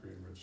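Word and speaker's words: Greenwich: is it green wi yes they pronounced at Green Wich yes there were four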